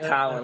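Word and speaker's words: Tynion: Basically, yeah, it is like Tywin Lannister, who was Tyrion's dad. I believe that is how it's pronounced as Tywin.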